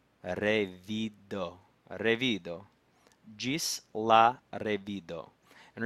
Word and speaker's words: revido: Revido. Revido. Gis la revido. And remember, in Esperanto, the accent is on the second to last syllable.